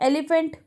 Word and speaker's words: elephant: देखिए एलिफेंट, ELEPHANT. वहाँ पे अल्फ़ाबेट्स P और H हैं पर हम बोलते क्या है? फ की आवाज़ में, एलिफेंट. एलिफेंट.